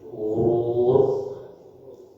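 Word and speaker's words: غرور: dalam bahasa Arab istilahnya huruf huruf gain kemudian huruf ro wau dan ro ini bacanya quurur dalam Quran ada gurur kalau huruf latinnya g h u r u r gurur gurur itu bahasa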